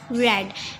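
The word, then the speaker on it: read: हो जाती है कैसे फर्स्ट फॉर्म में हम रीड पढ़ते सेकंड और थर्ड में हम क्या पढ़ते हैं रेड सही है इसके लिए यहां पे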